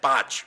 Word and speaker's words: Bach: the bach flower remedies it's pronounced botch because he's Welch now I'm not here